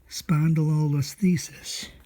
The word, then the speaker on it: spondylolisthesis: see okay so um spondylolisthesis spun the low was thesis okay so um what's